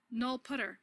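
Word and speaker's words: nullptr: Because now in C++ 11, we have a language keyword, null pointer, or null putter, as many C++ folks pronounce it, to kind of distinguish it from the ordinary English word null pointer.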